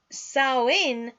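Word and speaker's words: Samhain: the year for them they called did saham pronounced saw in which means Summer's end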